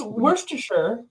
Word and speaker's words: Worcestershire: That's not how you say it. Yeah. It's Worcestershire.